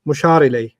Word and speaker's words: مشار إليه: Mushar ilay. Mushar ilay. Like mudaf ilay. Yeah. Rhymes with mudaf, mushar.